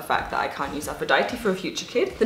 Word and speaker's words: Aphrodite: use aphrodite is because in german you pronounce aphrodite afrodite and i hate hate